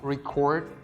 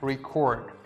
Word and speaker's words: record: When I'm pronouncing it like record, I'm putting the stress on the second part of the word, like record.